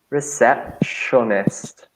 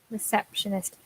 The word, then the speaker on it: receptionist: the next section is the tricky bit is the PT in the middle reset the beginning of the third sound is a shush exactly receptionist difficult yeah exceptional receptionist and where does a